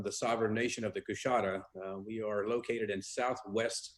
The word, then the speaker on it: Coushatta: David Sickey from the Louisiana, I want to pronounce this correctly. Is it the Coushatta Nation? Right, it's Coushatta Tribe of Louisiana, yes.